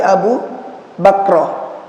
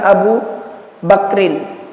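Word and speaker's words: Abu Bakrah: bapaknya an Abi bakroh dari Abu bakra bukan Abu Bakar ya tapi Abu bakro Abu Bakar dengan Abu bakro beda kalau Abu Bakar tulisannya enggak pakai ta tapi ini bacanya Abu bakro bukan Abu bakrin Anin Nabi Sallallahu Alaihi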